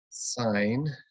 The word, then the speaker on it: sine: like sin cos and tan those are actually pronounced sine cosine and tangent and what we are looking